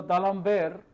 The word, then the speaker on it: D'Alembert: It is a French name, so you have to pronounce it a little carefully. You should not pronounce it as if it is an English word. So, D'Alembert's principle in mechanics is